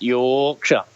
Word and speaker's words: Yorkshire: No, you got to say it right. It's Yorkshire. That's how they say it. It's not. They say it a funny way, and anyone that's from